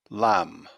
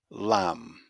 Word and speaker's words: lamb: at the first words the first silent letter is b here are the four words bomb bomb climb climb death death lamb lamb moving on now to